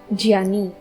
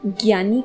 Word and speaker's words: ज्ञानी: एक महत्वपूर्ण बात मैं आपको यहाँ पे बताना चाहूंगी कि कई सारे लोग इस शब्द का उच्चारण ज्ञानी करते हैं, जो कि सही उच्चारण नहीं है। इसका सही उच्चारण ज्ञानी होता है।